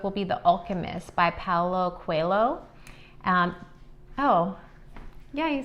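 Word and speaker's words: Paulo Coelho: Our next book will be The Alchemist by Paulo Cuelho. Yeah, you said it right. By Paulo Cuelho.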